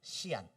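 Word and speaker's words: 西安: 오늘날 중국이 어디냐면 서안 한자로 쓰면 서안 중국식 발음하면 시안 시안입니다 시안 중국의 시간표준시 우리나라의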